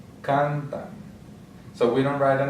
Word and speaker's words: cantan: So the second to last will be here. Cantan.